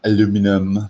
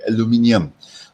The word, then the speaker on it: aluminium: capacity of aluminium okay not the american pronunciation aluminum okay it's like lazy okay aluminium okay so aluminium uh the